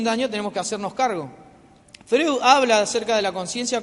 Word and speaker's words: Freud: Freud, perdón, no se dice Freud, es Freud.